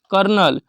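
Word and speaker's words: colonel: सी ओ जी एन आई जड ए एनटी कर्नल सी ओ एल ओ एन ई आर सी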